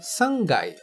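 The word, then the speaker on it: 三階: Já o terceiro andar é o sangai. Sangai. Que note o K de kai se torna ga, pois é inserido o tenten, portanto, gai.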